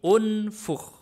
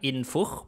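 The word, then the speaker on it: انفخ: ya tidak ada a Hamzah wasal tidak dibaca a dibacanya kalau enggak i ya u berarti unfukh bukan infukh bukan anfuk oke bagus berikutnya coba Saya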